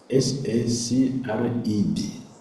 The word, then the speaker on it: sacred: You see the word, excuse me, the word there is S-A-C-R-E-D, right? Is what? S-A-C-R-E-T, S-A-C-R-E-D. They are not the same. And the pronunciation also so different.